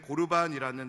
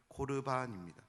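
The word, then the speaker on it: קרבן: 우리가 잘 알고 있는 고르반이라는 단어의 본래적인 발음은 코르반입니다.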